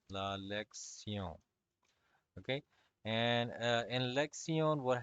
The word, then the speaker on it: lección: So the lesson is going to be la lección. Okay, so the O, I'm pronouncing it a little bit more in a prolonged fashion. So that's how you have to do it as well.